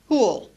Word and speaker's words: who'll: Who will in spoken English becomes who'll.